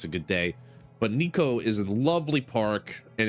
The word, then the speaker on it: Nikko: It's spelled Nikko, Nikko, like light. Nikko. Neko. You would say Neko for that. Neko is cat.